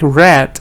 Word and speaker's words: read: r e a d now It's tricky because this can also be pronounced like red for example I read every day yesterday I read So It's Tricky so